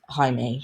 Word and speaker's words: Jaime: a very strong opponent it's not jamie by the way because it's spelled j-a-i-n-e it's jaime now jamie uh so